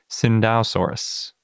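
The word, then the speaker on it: Tsintaosaurus: this week it is Cinda soros spelled like Tsingtao soros if you've only seen it written before but before we get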